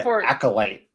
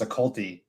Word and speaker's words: acolyte: It's like the word acolyte. When because it was in the X-Men, Magneto had his acolytes, but I always thought the word was occulty.